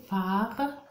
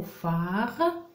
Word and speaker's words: phare: recopier dans le mot phare, regardez bien, phare, la syllabe P-H-A, fa, la syllabe fa, fa, fa.